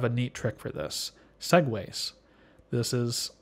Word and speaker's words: segues: neat trick for this segues this is spelled SE GU es but it's pronounced the same way as the silly scooters and a segue is